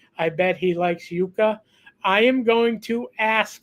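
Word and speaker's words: yuca: God awful which is why I call it yucka even though it's pronounced Yuka but it's a it's a root vegetable so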